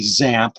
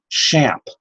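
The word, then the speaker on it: XAMPP: out how to pronounce I thought it would be zap but they pronounced it champ and I've got links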